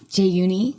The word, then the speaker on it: Jaeyooni: Jaeyooni, because in Korea, people, when they say your name, they always add an extra syllable.